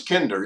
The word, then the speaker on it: Kinder: he thinks if it's all together people will mispronounce it oh i would say kinder it's kinder yeah so the one change we did make